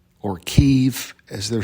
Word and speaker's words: Kyiv: So the 40-mile-long convoy is heading into Kiev, or Kyiv, as they're saying on the news. Maybe I've pronounced it wrong all these podcasts, but I say Kiev and it's Kyiv, right?